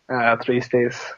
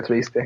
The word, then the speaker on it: triste: How do you say it in Spanish? Tristes. Like, soy triste. Or estoy triste. Me siento triste. Cheese sticks? No, triste. Oh, Triste. Triste. Estoy triste. Triste.